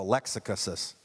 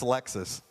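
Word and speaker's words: Lexus: was so excited he got this thing called a Lexicus. He couldn't pronounce Alexis.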